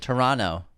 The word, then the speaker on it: Toronto: We learned Toronto. You don't pronounce the middle T.